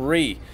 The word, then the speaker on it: Ree: have their last name instead of Lee will actually have a last name of REE REE okay like in recent or June REE REE Syngman of course